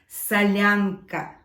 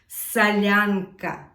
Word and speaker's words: Solyanka: we will be making Sasha's favorite soup let's pronounce the name of this soup salyanca salyanca salyanca there are a few types of salanka few